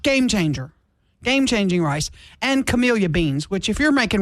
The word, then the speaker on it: Camellia: Is it Camellia or Camilla? Camellia. Okay. I believe, yeah, camellia.